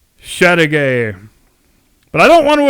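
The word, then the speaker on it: Châteauguay: October 1813 and yes if you pronounced it in the technically correct original French manner it would sound more like Chateau gay which I think is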